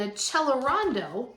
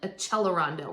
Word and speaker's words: accelerando: But accelerando means to get faster, to accelerate, except we pronounce it because it's Italian, accelerando rather than accelerando.